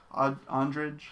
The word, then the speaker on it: Andrade: Yeah, co-main event fight is the UFC women's strawweight fight against Joanna Jay versus I always forget how to pronounce her other name, Jessica Andrade. Andrade.